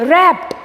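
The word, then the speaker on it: wrapped: Next, रैप्ड. देखिए यहाँ पर W साइलेंट है, हमें W का प्रोनाउंस नहीं करना है, हमें R से प्रोनाउंस करना है. रैप्ड ऐसा नहीं, रैप्ड.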